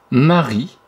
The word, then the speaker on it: Marie: Que Marie. Ah, dans Marie. On n'entend pas le E à la fin. C'est une lettre muette, il fallait l'entourer.